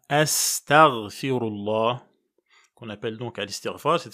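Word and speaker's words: أستغفر الله: notamment en disant astaghfirullah, c'est un mot d'ailleurs qui a été tordu quand on le prononce en français dans la bouche de beaucoup de gens. Donc c'est bien astaghfirullah qu'on appelle donc al-istighfar.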